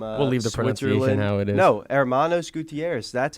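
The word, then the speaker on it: Hermanos Gutiérrez: this week too we're back with with uh Hermanos Gutierrez the duo from uh the it is no Hermanos Gutierrez that's how you pronounce that's not how you said it the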